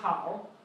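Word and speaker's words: 好: So this one is pronounced how.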